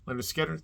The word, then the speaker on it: Lynyrd Skynyrd: my number nine is Debut from this southern rock uh Giants and that's Leonard Skinner pronounced Lynyrd Skynyrd another great debut from